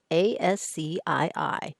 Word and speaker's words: ASCII: competing standard called ascii yes you pronounce a-s-c-i-i as ascii and it stands for